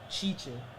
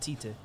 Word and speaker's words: Tite: Chiche. Chiche. The T is pronounced as a ch. Yeah. Chiche. Like Thiago Silva. Yeah. Every time, because I always, obviously, with my ignorance, I said Tite.